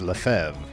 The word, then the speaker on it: Lefebvre: We'll pair red with Jim Lefebvre, whose name in French would be pronounced Lefebvre.